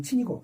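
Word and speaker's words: 秦: 진시황 진나라는 이제 중국으로 발음하면 친이고 이거는 진이니까.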